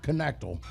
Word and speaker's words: Knechtel: to go to Connor Knechtel. Hold on. Is he here tonight? Where's he at? Is he here? Time out. I said that wrong. You said it wrong? It's Knechtel.